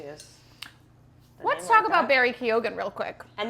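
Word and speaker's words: Keoghan: Let's talk about Barry Kyogan real quick. And that is how you pronounce it, right?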